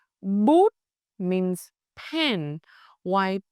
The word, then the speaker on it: bút: Rounded for u, flat for ư.